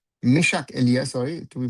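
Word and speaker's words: Meschack Elia: Nathaniel Buku goes off and is replaced by Mashaki. Mishak Elia sorry to be pronounced properly.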